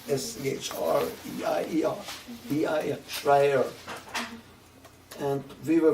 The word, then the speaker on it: Schreier: Their name was Schreier. S-C-H-R-E-I-E-R.